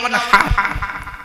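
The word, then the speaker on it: وانحر: ইন্না আতাইনাকাল কাউসার ফাসাল্লি লিরাব্বিকা ওয়ানহার, ফাসাল্লি লিরাব্বিকা ওয়ানহার। অনহার, অনহার, এই গলার ভেতর থেকে হেটা উচ্চারণ করবেন। হাই হুকি, হাই হাওয়াজ নয়।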